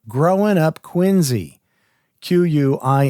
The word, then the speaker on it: QuinZEE: written called growing up quiny quu i n z e a play on the pronunciation of Our Fair City and uh he was